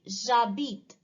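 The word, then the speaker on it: j'habite: semi vowel i mean h is silent in french so we consider it as a semi vowel so it will be jabit j posture of abbed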